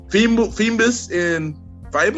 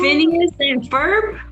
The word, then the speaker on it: Phineas and Ferb: Help me out if I pronounce this wrong. Phoebus and Fiber. Phineas and Ferb.